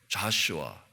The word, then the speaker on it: 여호수아: 그리고 약속의 땅에 들어가는 여호수아는 이렇게 좌슈아, 그리고 이 예수와의 이 히브리식 발음이 여호수아라는 겁니다. 여호수아라는 것은 이렇게 그릭 발음으로 하면 예수와, 이 히브리어로 보면 이렇게 좌슈아 이렇게 되는 겁니다.